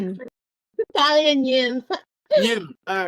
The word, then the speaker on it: Nghiem: Thalia Nghiem.